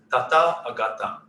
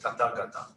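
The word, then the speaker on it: Tathāgata: So depending on how you break it, it can be Tata Agata or Tata Gata. But usually translated as Tata Gata.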